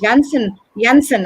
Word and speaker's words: Janssen: And there is one more vaccine which is introduced called as the Johnson & Johnson, or the Janssen as they pronounce it, vaccine, which is similar to AstraZeneca but is given in a single dose.